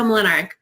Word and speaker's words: Mlinaric: So this is Mlinaric. Is that how you say it? Yes, Mlinaric.